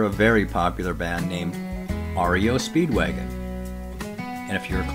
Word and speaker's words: REO: from a defunct company made a special point of pronouncing it with each letter r e o I get a big